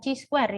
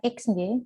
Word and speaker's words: chi-square: min Maaf mas Yon dibaca chi-square ya Ibu atau chi-kuadrat itu bukan xj bacanya Chi Chi kuadrat hitung sama chi-kuadrat tabel atau kalau dalam bahasa Inggris kain Square ye Oke silakan diperbaiki cara